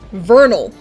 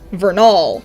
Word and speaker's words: Vernal: First of all, it should be pronounced Vernal, not Vernal. Vern is the root word, and the syllable that should be emphasized.